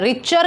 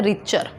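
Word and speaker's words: Richter: रिच, TLER, ये जो L आता है ये साइलेंट होता है। रिचर कहा जाता है इनको, लिखा रिचलर जाता है बट बोला क्या जाता है? रिचर।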